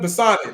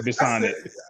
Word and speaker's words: Bissonnette: He knew the real pronunciation. Yeah, you know, Bissonnette.